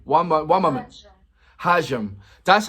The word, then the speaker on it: hajime: HAJIME.